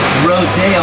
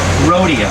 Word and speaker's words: Rodeo Drive: Pronounced Rodeo, not Rodeo.